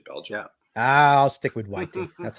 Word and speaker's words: Whiting: Whiting. Yeah, it's kind of weird. It's the CK silent, but it's Belgian. Yeah. I'll stick with Whiting.